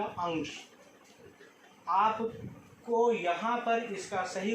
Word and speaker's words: अंश: ओ औ अंग आह, तो जो आप अंग का उच्चारण करते हैं उसी तरह से आपको यहाँ अंश में अंग का उच्चारण करना पड़ेगा, तो इसका सही उच्चारण बनेगा अंश।